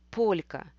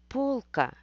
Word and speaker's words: полька: читается мягко или слово полька полька обозначает денс если мягкого знака нету в слове то читается полка и это обозначает Давайте посмотрим